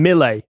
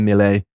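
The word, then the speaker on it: Milei: much your position just just call him Mille because that's what I think that's actually how it's pronounced that's how you say it you'll say it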